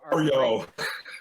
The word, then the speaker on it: Mario: It's Mario.